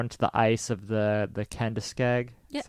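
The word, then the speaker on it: Kenduskeag: Police arrived, and before they could speak to him, he fled on foot, ran out into the ice of the Kendiskeg.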